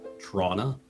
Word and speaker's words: Toronto: called toronto like yeah whereas if it had been rebuilt by locals who then had to like write down the name anew it would be trauna yeah tr maybe yeah trauma maybe oh t-t-r-o-n-a trauna like trauma or trauma films what's the uh